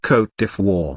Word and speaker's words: Côte d'Ivoire: 15th to 17th centuries note pronounced cote de fois government type presidential Republic